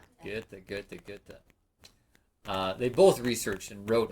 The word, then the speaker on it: Goethe: Wolfgang von, oh, you all know how to pronounce his last name by now, don't you? Goethe. Let's do it. Goethe. Goethe.